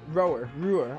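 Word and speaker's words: Roer: our operation to liberate roar rower apparently i've been saying it wrong we need to keep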